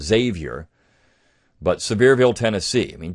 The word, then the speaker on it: Sevier: If you read, and he even gets into some of this, John Sevier, actually how you would really pronounce that is Xavier, but Sevierville, Tennessee.